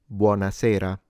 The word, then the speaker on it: buonasera: What I notice is that sometimes foreigners, for some reasons, pronounce it buonasera with a T. That is incorrect.